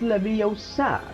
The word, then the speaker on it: Leviosa: It's like Ron कैसे बोलता है? Levioso, similar to this, and Hermione corrects him like, it's Leviosa, not Leviosa. And there's a meme about it too.